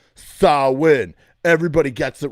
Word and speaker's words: Samhain: winning at life okay that's how you properly pronounce the name sawwin everybody gets it wrong even the band glenn